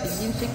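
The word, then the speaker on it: tikin xic: Y con el tikin chic se pronuncia tikin chic en maya yucateco.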